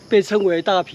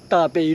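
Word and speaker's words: 大埤: Chengcing Lake was originally an irrigation pond, known as "Da Pi Lake" (Tuā-pi-ôo).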